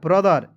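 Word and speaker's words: brother: टी एच ई आर ब्रदर बी आर ओ को पढ़ेंगे ब्र ब्रो नहीं पढ़िए ब्र टी एच ई आर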